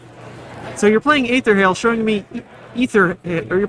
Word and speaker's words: Aether Hale: good um showing me ether Hill yes okay ether Hill first time I've heard it pronounced that way yeah that's an interesting accent so you're playing Aether Hale showing me ether are